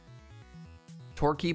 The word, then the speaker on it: Torquay: Torquay, but it sounds more A than E.